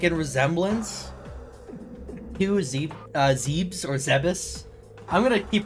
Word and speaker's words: Zebes: When in doubt, go off of Japanese, and the Japanese pronunciation would be Zebus.